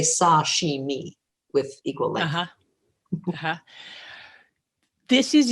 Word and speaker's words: sashimi: to say it and even more noticeable if you order just the raw fish sashimi which in japanese person tells me i'm a little closer when i say sashimi with equal length this